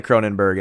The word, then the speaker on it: Kronenbourg: I'm pretty sure that they pronounce the OURG as Berg, but I could be out of bounds.